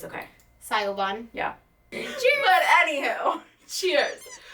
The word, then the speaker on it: Siobhán: I've spent my whole life with people saying my name wrong, so it's okay. Siobhán.